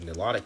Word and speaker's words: Nilotic: There are also an entire different group of people called Nilotic people. I think it's actually pronounced Nyloic, but they speak Nylo Saharan languages.